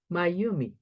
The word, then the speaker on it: Mayumi: means my first name, Mayumi. So I have to tell my friend to say I'm Mayumi, but it's a little bit difficult to pronounce. So I decided to introduce myself, my, you, me.